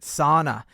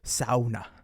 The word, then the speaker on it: sauna: up at you because you pronounced it sauna instead of sauna.